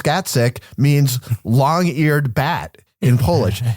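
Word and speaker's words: Gacek: His name, pronounced Gatsik, means long-eared bat in Polish.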